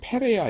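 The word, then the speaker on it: Perea: 이 베레아는 뭐냐면 P입니다. P-E-R-E-A. 그래서 사실 엄밀하게 번역해라 그러면 이건 베레아, 이거는 페레아 이래야 되는데 우리나라 그 조선시대 말기에 피읍 발음 이런 거 잘 안 했죠. 예, 그래서 그냥 번역을 이거는 베레아, 이것은 베레아 이렇게 되도록 했습니다.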